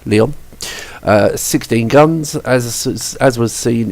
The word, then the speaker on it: Lyon: I'm getting better with these French pronunciations. Lyon.